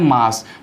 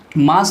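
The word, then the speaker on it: mass: उसके बाद आता है मास, मास को मास ना बोल करके आप मैस बोलिए, ठीक है, मैस इसका सही उच्चारण है, मैस, इस तरीके से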